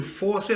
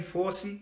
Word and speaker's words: Fauci: And I think to FAUCI, I think that's how you say his name, FAUCI.